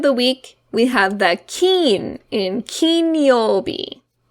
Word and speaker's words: 金: week, we have the kin in kinyobi. So this word has 2 pronunciations that are important. One is the kin in kinyobi. The other is the kane in okane.